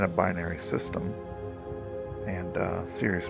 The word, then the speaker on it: Sirius: there so uh yeah just so you know serus Sirus I guess this how you pronounce it I always said Sirus but I believe it is Sirius um is the nearest